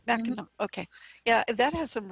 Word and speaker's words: Mackinac: I think there's a couple on Mackinac Island in the limestone formations, but some of